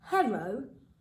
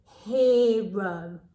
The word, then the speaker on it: hero: is making e now we know usually e and r together would make er for what's for dinner but in this word it's pronounced differently so hero so if